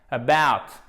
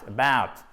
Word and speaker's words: about: About. Accent tonique sur la deuxième partie du mot. Et vous voyez, je vous ai mis la phonétique ici. Pourquoi? Parce que c'est pas about, c'est pas out, c'est out. C'est un diphtongue en fait, donc c'est out, son double, out, ok? About, accentuation sur la deuxième syllabe, c'est pas about, c'est about.